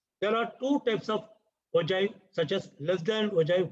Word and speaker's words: ogive: It is called ogive, not G. G sound illa, J sound varum. It is called ogive. Ogive na anamada.